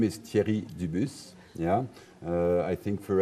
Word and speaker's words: Thierry: I think for everyone the best reference I can have to know where my name comes from and how to pronounce is you have a very famous football player called cheering yeah same thing yeah